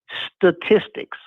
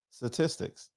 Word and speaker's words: statistics: People cannot say statistics. Statistics. Say it again. Statistics. How you say it? It's STA. Statistics?